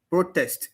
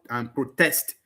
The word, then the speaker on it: protest: Protest, which is the noun, and protest. Now, you see each of them, both their noun version and their verb version. Noun version, stress on the first syllable. Verb version, stress on the second syllable.